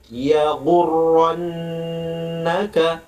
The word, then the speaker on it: يغرنك: Ya, perhatikan cara membacanya. La dua harokat, ya gurrannaka ro, bukan ra, ya gurra, ya gurrannaka, nunnya dikasih lama, nun tasydid, ka,